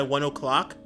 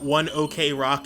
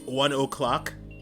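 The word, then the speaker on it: ONE OK ROCK: Which, fun fact, if you didn't know, it's not 1 OK Rock, it's 1 O'Clock. It's actually apparently pronounced 1 O'Clock. Which is shocking to me. But, you know, I guess it makes sense when you really think about in the Japanese pronunciation.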